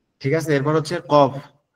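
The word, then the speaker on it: قاف: ঠিক আছে এরপর হচ্ছে কফ কফ হচ্ছে আমাদের জিউবার গোলা থেকে একটু আগে সামনের দিকে একটু আগে বাড়ায়া উপরে তালুর সঙ্গে লাগবে লেগে উচ্চারণ হবে কফ কফ কফ কফ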